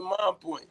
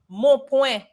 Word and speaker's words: Mon Point: Now, Regine, how would you say it? Mon Point. Oh, Mon Point.